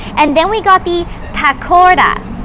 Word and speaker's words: pakora: then we got the pakora so you have to pronounce the r with a d right and it is a